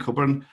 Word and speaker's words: Cockburn: So that's me, Cockburn. My surname is pronounced the same as Alistair Cockburn, who is an Agile Manifesto co-author.